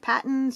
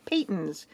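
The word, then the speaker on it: Patons: And I recently just found out that it's not pronounced Patton, it's pronounced Payton's because it's the family name.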